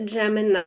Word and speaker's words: Gemignani: Gemini with a silent G.